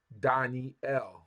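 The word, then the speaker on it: דניאל: is my judge Daniel how we say it in Hebrew Danel Danel Daniel Daniel right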